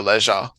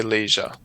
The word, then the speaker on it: leisure: People say leisure as well. Leisure time. Okay, great. In USA, we say leisure. Thank you. And in some parts of Britain, they say leisure as well because they have different pronunciation.